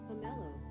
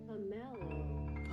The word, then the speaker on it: pomelo: Pomelo. Pomelo. Slowly. Pomelo. Pomelo. That's the American pronunciation. The British pronunciation, because British pronunciation is always so extra, would be Pomelo.